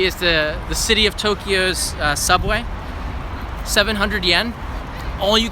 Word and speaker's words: Tokyo: myself and call it Tokyo too two syllables not three Tokyo not Tokyo Johnson and elect yourself